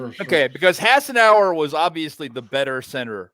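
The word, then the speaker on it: Hassenauer: an upgrade to jc how do you say it ryan haasen saucer hassan sauce barbecue saucer haas and saucers okay because hassan hour was obviously the better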